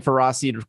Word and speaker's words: Ferroseed: Yes, I'm saying Ferroseed correctly.